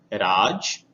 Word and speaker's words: राज: तो बिंदी होने के कारण इसका उच्चारण भी बदल जाता है। तो पहले वाले शब्द को हम पढ़ेंगे राज और दूसरे वाले शब्द को हम पढ़ेंगे राज।